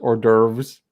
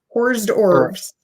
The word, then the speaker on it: hors d'oeuvres: this is the nation that decided that it's pronounced hors d'oeuvres hors d'oeuvres hors d'oeuvres horsed orbs where's yours as lizzie would take hors d'oeuvres